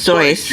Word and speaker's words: Seuss: Which is pronounced Dr. Seuss, remember? Zeus? Zeus. It's Zeus.